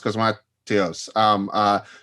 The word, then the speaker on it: Cosmatos: I feel like isn't that something that Panos Cosmat, I'm mispronouncing his last name, Panos Cosmatos, it wasn't that he said something like Beyond